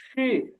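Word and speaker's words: 七: Seven, seven এটা তো first tone, এটা হবে সি, সি এরকম। সি। হ্যাঁ আমরা বাংলায় অনেক সময় বলি না যে ছি ছি, তো এই যে স রস্ট ইকার যেটা অনেকটা সেরকম উচ্চারণ হবে, শুধু ফার্স্ট টোন একটু টান হবে, স্যার সি এরকম।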